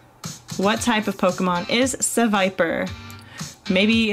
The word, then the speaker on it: Seviper: next question guys what type of Pokemon is Seviper what type of Pokemon is Seviper maybe it's called sea Viper but it's the Viper not sure so what